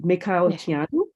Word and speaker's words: Mihalceanu: Mihalceanu?